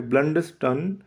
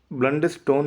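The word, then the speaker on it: Blunderstone: आई was born at ब्लंडरस्टन near यारमouth. आई was born at ब्लंडरस्टन. ये ब्लंडरस्टोन नहीं है, ये ब्लंडरस्टन.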